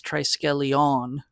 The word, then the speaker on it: Triskelion: So I think we're mispronouncing that. I think it's Triskelion. I think there's the emphasis on the on at the end, but who cares?